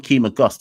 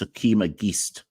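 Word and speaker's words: Akeem Auguste: Someone told me it's not Akeem August, it's Akeem Agist.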